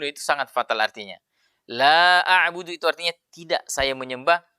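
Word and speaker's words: لا أعبد: La a'budu ma ta'budun. Itu harus panjang. Tapi dia kurangi menjadi la a'budu ma ta'budun. Itu sangat fatal artinya. La a'budu itu artinya tidak saya menyembah.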